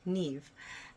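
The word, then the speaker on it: Niamh: performed by Jack Riley Neve and that is spelled n-i-a-m-h and you can find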